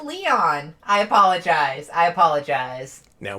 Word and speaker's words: Leon: Devil Ray says, it's pronounced Leon.